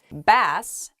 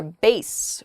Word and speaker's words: bass: you can say Gesundheit bass as in a type of fish or base which refers to someone's voice it's also a type